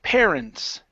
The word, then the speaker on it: parents: Parents. Parents. Parents. Parents. Okay. Push your tongue down for the s instead of parents. Parents. Parents. H. Parents. There you go. That's the S sound.